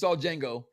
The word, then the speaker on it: Django: Sorry, that if you saw Django, okay, the D is silent.